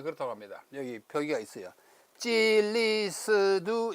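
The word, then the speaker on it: 基利斯督: 그리고 그리스도는 여기 있는 바와 같이 어떻게 했냐면 찔리스두 이렇게요. 찔리스두 중국 발음이 그렇다고 합니다. 여기 표기가 있어요. 찔리스두 이 시두가 아니고 스두라고 발음합니다.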